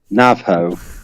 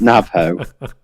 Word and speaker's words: Navajo: Navajo. That's how you pronounce it. Navajo. You Navajo.